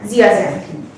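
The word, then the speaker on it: zeaxanthin: prevent করতে সাহায্য করছে উচ্চারণ এর আগের দুটো লিউডি আর জিয়াস এন্থি হুম উচ্চারণ হচ্ছে লিউটিন এন্ড জিয়াজন আচ্ছা লিমন হলো নেক্সট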